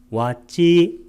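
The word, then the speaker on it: vacī: 몸의 암시, 까야 윈야띠하고 말의 암시, 와찌 윈야띠. 우리가 말의 할 때는 이렇게 와자를 와찌라고 이렇게 길게 발음했습니다.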